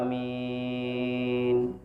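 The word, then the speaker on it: آمين: setelah membaca Fatihah mengaminkan Amin a panjang Min panjang Amin k Amin k Amin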